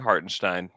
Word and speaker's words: Hartenstein: Also, everybody work on saying Hartinstein.